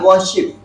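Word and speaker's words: worship: दिमाग में रखना है वशिप क्या पढ़ेंगे वशिप वशिप वशिप आप साइलेंट करिए वशिप वशिप वशिप वशिप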